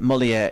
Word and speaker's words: Molière: Kermode that Molière is pronounced to rhyme with where?